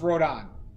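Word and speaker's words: Rodin: well yeah it um it's pronounced rodon as far as the French uh French sculptor is concerned yeah it's not worth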